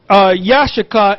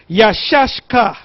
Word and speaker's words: Issachar: By the way, Issachar means he is hired. Now, the way to pronounce it is not Yashakar, is Yashashka. Yashashka.